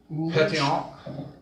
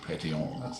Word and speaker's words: pétillant: Got just a little sparkle and a little Is it called pétillant. Ooh, pétillant. That's my best approximation of the French pronunciation.